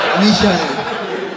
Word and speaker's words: Michael: This is how we pronounce it in Israel. Michael.